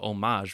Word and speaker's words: homage: that from medieval Latin, that H would be silent, right, in the French pronunciation. And of course, and they talked about homage would be closer to the French pronunciation.